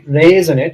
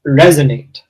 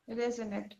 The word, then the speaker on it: resonate: Uh, not resonate. It's resonate. Resonate. Yes. Like it's it should sound like this.